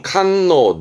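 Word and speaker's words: 堪能: 능숙함 능숙함 그래서 보통은 칸노 나 행사인데요 칸노 그러면 능숙한 사람 뛰어난 사람 말하기도 하는데요 조심할 건 발음이 노로 가요 요게 시험 때 나와요 발음을 노입니다 탄노 나도 마찬가지 능숙하고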